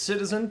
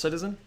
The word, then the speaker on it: CTZN: what this thing is it's citizen pronounced you know ctz and pronounced citizen it's kind of uh